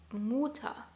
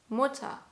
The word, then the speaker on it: Mutter: It's not Mutter, it's Mutter. O. Hear the difference?